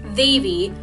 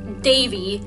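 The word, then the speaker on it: Devi: it was so infuriating her name is Davy with ADHD at the start it's not Davey and her last name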